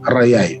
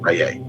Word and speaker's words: Ra: is in that position, we then say Atum Raye, or some say Atum Ray, proper pronunciation Raye.